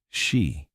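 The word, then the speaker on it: Sídhe: Underneath it, they retreated into the hollow hills and ancient burial mounds known as Sida, pronounced she.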